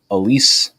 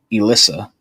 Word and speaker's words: Elise: My stepmother's name is Elise. He said Elissa.